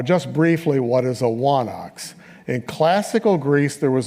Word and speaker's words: wanax: In Linear B, that word appears with a letter that went out of use by classical Greece called a digamma, and it's pronounced as a W, so wa and then onox is the idea.